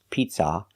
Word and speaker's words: pizza: but the second syllable and make sure the stress is on the first syllable pizza not pizza but Pizza I would like pepperoni